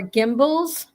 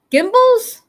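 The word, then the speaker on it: Gimbels: Tony said, "I modeled for gimbals." Gimbals? What's gimbals? Sounds like thimbles.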